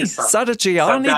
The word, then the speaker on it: Sadaghiani: Sadaghiani. Sadaghiani, that's right. G sound, it's a G. G. It's not J.